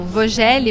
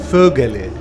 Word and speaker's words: Vögele: do português brasileiro né então o v em alemão ele tem uma pronúncia de F Uhum E a trema